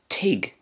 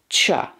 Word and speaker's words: teach: could also be pronounced teach and in ulster teach again there's a kind of a silence with the ch at the end which is a feature of the ulster dialect teach in ulster so in